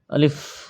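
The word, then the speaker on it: ألف: আলিফ, আলিফ, আলিফ, আলিফ। উপরের সামনের 2 দাঁতের আগা এবং নিচের টুটের পেটের সঙ্গে লাগিয়ে উচ্চারিত হবে আলিফ, আলিফ, আলিফ।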